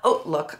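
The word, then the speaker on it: HauteLook: um they call it oat look I always call it hook but it's actually pronounced oat look like oatmeal um and I just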